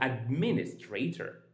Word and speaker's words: administrator: Administrator, so administrator. Calculator, and -n- navigator. So, this is how we pronounce these four words that are related to today's topic.